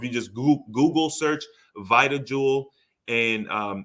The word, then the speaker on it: VitaJuwel: Or if you just goo- Google search VitaJuwel and um it's spelled weird.